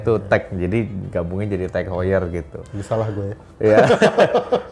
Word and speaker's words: TAG Heuer: Bacanya Tag Heuer, teman-teman.